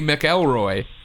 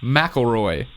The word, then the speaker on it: McElroy: I say McElroy. Colin says McElroy. That's because that's how it's said.